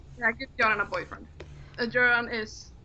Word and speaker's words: Göran: That is not like, you don't pronounce that as an O.